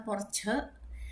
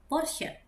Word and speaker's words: Porsche: Jadi ini bukan porche tapi Porsche karena dibacanya CH jadi sh porse.